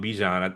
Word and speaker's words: Bijan: The the running back uh we've been pronouncing his name wrong, Bijan. It's like Bijan Robinson.